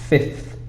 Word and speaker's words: fifth: 5 is a bit different because we changed it, the v to a f sound. So it's not 5, it's fifth.